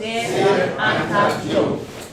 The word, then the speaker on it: Cheikh Anta Diop: I want everyone to pronounce his name in a Wolof way. Cheikh Anta Diop. Cheikh Anta Diop.